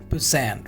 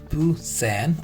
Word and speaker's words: poussin: So this is Poussin, right? You can see the pronunciation Poussin or Poussin.